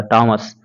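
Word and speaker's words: Thomas: इसी तरह से जब आप थॉमस लिखिएगा तो थॉमस के जगह इसको टॉमस बोला जाएगा, टॉमस।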